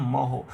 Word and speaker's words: mho: का उल्टा है तो ओम का स्पेलिंग होता है OHM, तो इसका हम लोग पढ़ देते हैं MHO। ये किसी वैज्ञानिक का नाम नहीं है, ओम तो नाम है, इसको हम लोग कह देते हैं महो, और ओम का सिंबल